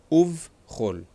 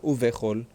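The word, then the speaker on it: וּבְכָל: Uv chol. Uv, not uvechol.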